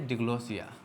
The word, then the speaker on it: diglossia: if we just discuss deglossia actually this is pronounced as deglossia deglossia deglossia is a Greek word degree word